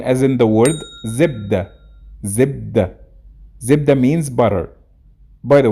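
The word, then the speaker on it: زبدة: Zibda. Zibda means butter. By the way, in Fusha, it's pronounced zubd.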